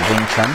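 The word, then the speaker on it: 詠春: So Yong Chun in Mandarin, or Wing Chun, that's the Cantonese pronunciation of it.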